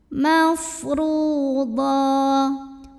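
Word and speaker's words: مَفْرُوضًا: Huruf ra dibunyikan secara tafkhim karena barisnya di atas, maka bacanya tebal, pangkal lidah angkat. Mafru. Ru mad tabi'i karena ada waw sukun yang didahului baris dhammah. Cara bacanya dipanjangkan, ra-nya 2 harokat.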